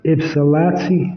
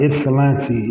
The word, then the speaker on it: Ypsilanti: hate y'all y'all slept for this um it Ypsilanti Excellency Michigan I believe I'm saying it right Ypsilanti it's y p s i l a n